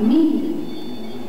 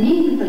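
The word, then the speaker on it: 未夢: が決定しましたその名前はミール未来の海に夢と書いてミールと呼びますロボットたちの活躍する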